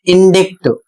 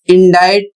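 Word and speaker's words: indict: अगला शब्द है आई एन डी आई सी टी और इसे पढ़ा जाता है इंडज 90% लोग इसको पढ़ते हैं इंडिक जबकि इंडिक गलत है और इंडाइट का अर्थ होता है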